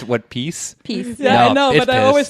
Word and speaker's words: PiS: and led to parties like uh fides and piss being elected piss i'm upset to find out now that it's pronounced what peace i always say peace yeah i know it